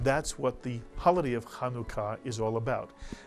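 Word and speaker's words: חנוכה: word if you're saying it in Hebrew is kanuka kanuka kanuka khua two syllable word just two and since we're learning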